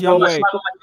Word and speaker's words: Younghoe: Yeah, but he's Korean, so it's pronounced Younghoe. You want to say hi to people? Younghoe. Oh, I thought it was like Young-Ho.